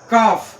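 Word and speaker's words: calf: এস যোগ করতে হয় কাফ এখানে এল সাইলেন্ট থাকে কাফ মানে বাছুর এর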